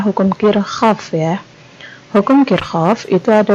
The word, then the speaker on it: Kirchhoff: Dibacanya hukum Kirchhoff ya.